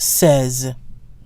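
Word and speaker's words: seize: a so des says now 16 is spelled SEI ze which in English is pronounced C's but in French 16 is pronounced says Nazis now 17 through 19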